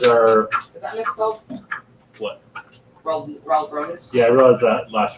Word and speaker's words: Raldronis: So I'm going to constantly mispronounce that one. But as far as the lore is concerned, it is Raldronis, Okay, which frustrates the shit out of me.